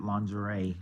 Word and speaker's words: lingerie: you would do that lingeray yeah but I've heard it pronoun I've heard them pronounce it lingerie on the show so that's